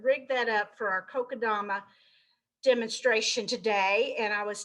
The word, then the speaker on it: Kokedama: Now it is pronounced Kokedama, Kokedama, all right?